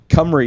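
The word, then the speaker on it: Cymru: you call them uh it's team cummery cumry is what a lot of people call it and i think that is the chronic pronunciation after i had it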